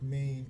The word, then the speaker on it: Cameen: Am I pronouncing that correct? Yes, it's Cameen.